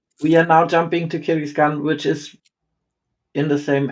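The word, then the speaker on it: Kyrgyzstan: How do we pronounce it? Kystan. We are now jumping to Kyan which is in the same area as Kazakhstan if I'm not mistaken.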